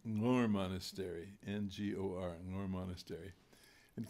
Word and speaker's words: Ngor: And it's probably from Ngor Monastery, N-G-O-R, pronounced Ngor, which comes from southern Tibet.